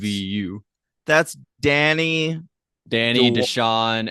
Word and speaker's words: Luvu: meant Luvu, but it's spelled Love You, so I've been calling it Love You. It's Luvu.